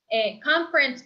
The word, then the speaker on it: conference: Con el acento americano, con esa palabra como conferencia, conference, para algunas personas que tienen un acento americano como yo, esta palabra para mí tiene dos sílabas.